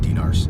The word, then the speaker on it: dinar: Jordanian dinars. Yep, it's the dinar. It's spelled with a D-I-N-A-R. Dinar.